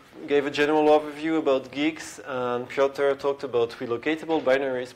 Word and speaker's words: Guix: going to talk about it's actually pronounced geeks which i think is quite unusual to many but yeah that's why